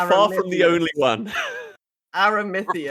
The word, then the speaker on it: Aramithius: Aramithius. For 6 months, I pronounced it with an E sound in the middle there, so I mean...